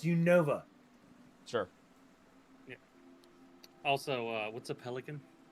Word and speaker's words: Unova: I believe it's pronounced Unova.